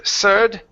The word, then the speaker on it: third: Instead of third, third. Use your tongue.